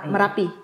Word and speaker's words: Merapi: Jadi saya di kaki Marapi gunung. Ya? Merapi. Oh tetap dibacanya Merapi juga ya. Sama? Oh. Jadi saya pikir Marapi karena Padang.